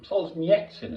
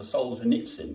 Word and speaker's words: Solzhenitsyn: I read the two books by Solzhenitsyn, is the proper way to pronounce it. Alexander Solzhenitsyn, we'd call him in the West.